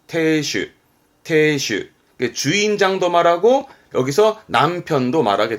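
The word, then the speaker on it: 亭主: 발음은 태슈.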